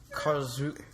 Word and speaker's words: Karlsruhe: Berlin's 2-1 victory over Karlsruhe? How do you pronounce that, Sahil? Karlsruhe. Are you sure? Positive.